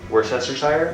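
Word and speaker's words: Worcestershire: do you say it what's the right way to say it I call it Worster Shire worst worest I think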